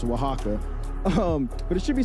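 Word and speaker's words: Oaxaca: It's not even pronounced anything how it looks. It's pronounced Waka.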